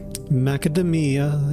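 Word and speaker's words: macadamia: Macademia is how you say that word.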